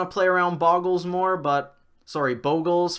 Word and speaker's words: Bogles: play around Boggles more, Bogles for those of you who are really concerned with how that's pronounced. I do believe the correct way is Bogles, and that's the only way I've ever heard anyone say it's pronounced while getting mad that it was pronounced a different way, so I'm gonna go with Bogles being right.